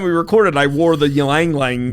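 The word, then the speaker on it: Ylang Ylang: And I remember last time we recorded, I wore the Ylang Lang, right? Is that how to pronounce it?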